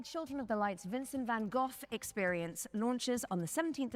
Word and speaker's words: Van Gogh: Let's take a look at this Van Gogh. Wasn't it Van Gogh? I mean, that's just how I've heard it pronounced my entire life.